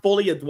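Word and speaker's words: Folie à Deux: Apparently, it's pronounced Folie Deux.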